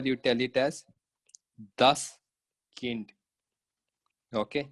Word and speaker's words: Kind: So here you tell it as das Kind. Okay, you pronounce it as kind. That is not kind, that is kind.